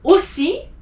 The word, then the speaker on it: aussi: Aussi, OU is O.